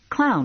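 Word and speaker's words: Kloughn: I've been hearing that it's spelled k-l-o-u-g-h-n clown could be worse Lula said you could be Albert f-u-c-h I gave clown my card I'm Stephanie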